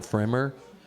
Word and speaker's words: Pfrimmer: You've got these people that, my first hit songwriter was with a guy named Don Fremer, It's spelled Pfrimmer.